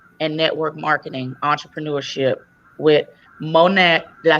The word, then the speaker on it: Monat: plus size modeling and network marketing entrepreneurship with Monat. Did I say it right? Monat. Yes. Monat.